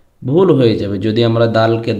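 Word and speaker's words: دال: দাল জবর সাইন দিয়ে পড়লে দাল জবর দা আ সাউন্ড দিয়ে উচ্চারণ করতে হয়। দদ জবর দ। সুতরাং আমরা যখন কোরআন তেলাওয়াত করবো তখন আমাদের খেয়াল রাখতে হবে আমরা যেন দদকে দাল না বলি। আর দালকে দদ না বলি।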